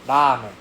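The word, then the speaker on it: ラーメン: like l a la so we don't say ramen we say lame Okay. Yeah. If you emphasize the R sound too much, you will sound very Australian. So, please avoid that.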